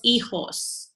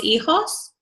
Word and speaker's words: hijos: And then we have the children, los hijos. Remember, the H is silent. So repiten, los hijos. Los hijos.